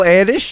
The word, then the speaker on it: Erdős: Paul Erdős, yes, it's pronounced like that, was a prolific mathematician from